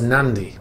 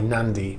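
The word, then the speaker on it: Nadi: in previous videos, the destination on AIS was Nandi, N-A-D-I, Nandi, right, on this island in Fiji.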